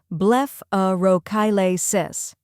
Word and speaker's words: blepharochalasis: The correct pronunciation is blepharochalasis. First we have bleph, where it sounds like blef in bleph, rhymes with chef.